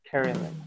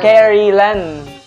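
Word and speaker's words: Kerilen: Carnen. Ah, Carry Len.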